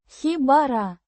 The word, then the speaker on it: хибара: Pronounced Хибара. with the stress on the first syllable.